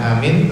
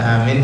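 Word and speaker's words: آمين: para ulama yang pertama adalah hamzahnya dipanjangkan mim dan huruf ya nya dihilangkan sehingga dibaca ini membatalkan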